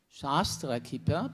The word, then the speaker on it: Shastra: Shastra please. The pronunciation is very important. Shastra and not shastra.